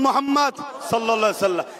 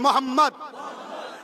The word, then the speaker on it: মোহাম্মদ: একবার বলুন মোহাম্মদ আপনারা উচ্চারণ করুন মোহাম্মদ খেয়াল করে দেখুন নবীর নাম নিলে দুই ঠোটে ঠোট ঠেকছে বলুন মোহাম্মদ আমার নবীর নাম চুমা